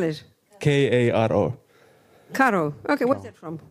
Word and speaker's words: Karo: Spell it. K-A-R-O.